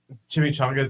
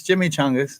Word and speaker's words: Jimmy Changas: Jimmy Chongas are like the Butterfinger thing. How's it spelled? Did we do that again? CHA. It's Jimmy Changas.